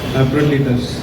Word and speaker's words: Epaphroditus: That's Lansing and pronounce. Epaphroditus.